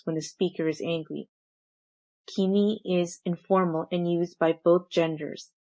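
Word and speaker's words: 君: This pronoun is pronounced as kimi and used informally and by both genders.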